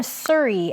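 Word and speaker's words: Suri: And then the name Surrey, S-U-R-I, like Surrey Cruise.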